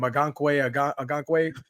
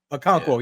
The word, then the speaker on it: Okonkwo: I can never pronounce his name. Agankwe. Okonkwo, yeah.